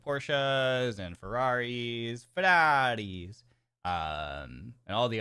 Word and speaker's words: Porsche: Porsche pronounced as Porsche, not porch. I don't say porch.